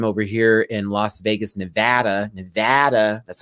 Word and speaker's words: Nevada: over here in Las Vegas, Nevada. That's how you say it, not Nevada, Nevada.